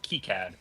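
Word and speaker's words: KiCad: i c a d so it's Cad and then before that you have to be careful because one of the ways to pronounce k i k sound is a slur uh so it's key CAD not the other one H oh well that's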